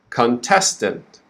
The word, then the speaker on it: contestant: stress is not in the beginning it's on the second syllable so the first syllable is quick first word we say khan second word we say quick very quick contestant and then the last syllable is very quick too so the clearest part of this word is test contestant the first syllable is and the last syllable is tent now you know why